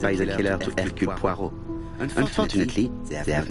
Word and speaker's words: Poirot: That is how you pronounce his name, Poirot. It is French.